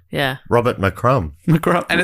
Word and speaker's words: McCrum: It does sound like my crumb. McCrum. Which I like. Yeah. Robert McCrum.